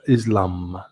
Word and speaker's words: Islam: that islam now islam here you say it's spelled islam but we say in english islam where was ur where